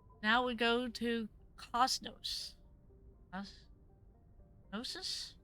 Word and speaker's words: Gnosis: Gnosis? Gnosis. That's how you pronounce that.